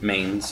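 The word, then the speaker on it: Manes: horn moons get uh Main saturnal m-a-n-e-s Mains Eternal not Maine like you know and then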